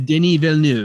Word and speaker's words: Denis Villeneuve: I think I can't say his name, Denis Villeneuve, however you say his name. It's Denis Villeneuve.